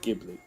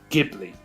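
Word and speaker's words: Ghibli: see I pronounce it gibli not gibli gibli hard G here hard G fans anyone a hard G fan for Studio gibli yeah I I'm a hard G not a soft G yeah say in the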